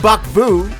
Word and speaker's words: Buck Vu: And Buck Vu rhymes with fuck you.